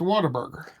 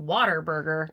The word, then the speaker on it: Whataburger: H's, it's Whataburger. I hear you saying waterburger. Whataburger.